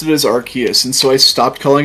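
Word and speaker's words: Arceus: I that one's different because while I did say Arus before, I started saying Archus for some reason.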